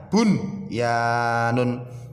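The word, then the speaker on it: بُنْيَانٌ: Bacanya bunyanun, bunyanun. Jangan sampai kita baca bunyanun atau buyanun atau dijeda bunyanun, tidak boleh ya. Harus dibaca jelas, nun sukunya jelas, n-nya jelas, bunyanun ya.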